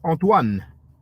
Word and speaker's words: Antoine: is Json R Antoine maybe you pronounce it Anton you know something like that but it's a French name is Antoine I don't have attorney